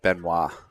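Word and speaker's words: Benoit: scores around the tournament benight is b n o i t right yep should pronounce as it Beno so we got Jody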